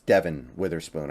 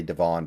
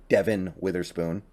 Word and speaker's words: Devin Witherspoon: help by the way it's it's Devin Witherspoon I know I sometimes say Devon because that's how it's spelled but Devin Witherspoon Derek Hall I think